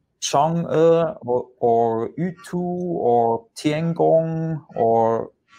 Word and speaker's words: Chang'e: The name, for example, if we take a Chang'e, you know, even for the writing, it looks the same like the change, you know, but in China we pronounce like Chang'e.